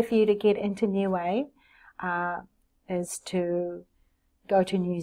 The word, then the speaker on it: Niue: I was born in a beautiful island called new way in I UE that's how it's spelt for those of you